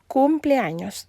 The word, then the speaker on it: cumpleaños: Si tu es habitué à prononcer comme ça, je t'invite pour prononcer la forme correcte là, qui c'est Félix cumpleaños. C'est cum, c'est pas comme, ok?